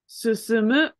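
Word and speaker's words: 進む: Susumu is how that verb is pronounced.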